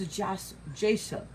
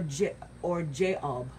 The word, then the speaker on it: Jashub: Now, the third son of Issachar was Jashub, and or Jaob, which there are two pronunciations for it.